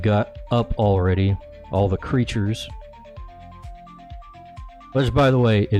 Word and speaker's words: Crytures: Is it Crytures? It's just creatures, guys.